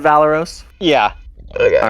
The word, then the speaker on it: Valeros: The Paizo people call it Valeros?